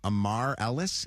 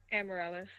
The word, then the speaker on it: Amaryllis: Is it Amar Ellis? Is that right? Amaryllis. Amaryllis. Oh, my You were so close.